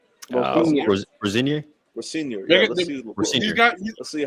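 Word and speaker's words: Rosenior: How you pronounce his name? Rosinier.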